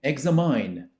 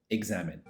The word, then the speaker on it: examine: Bu kelimeyi Examayn diye telaffuz etmek yanlış. Zira “mine” kelimesi ile ilgisi yok. Kelime kökü “Exam”. Bu sebepten dolayı, Examine. Sırada, ilk gördüğümüzde aklımızı allak bullak edebilecek 5 tane kelime var.